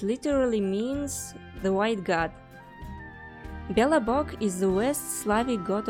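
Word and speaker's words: Belobog: much more complicated than that foreign book it's pronounced billabog it literally means the white God Bella Buck is the worst Slavic God of good luck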